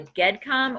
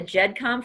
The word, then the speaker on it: GEDCOM: creates what's called a GEDCOM or a GEDCOM file. Now, I've heard it pronounced both ways, either with a hard G or with a soft G. But I'm going to call it a GEDCOM file just because that's what I'm used to.